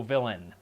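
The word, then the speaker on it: Vilain: his name is also villain it's spelled v i l a i n and is pronounced villain but yeah you add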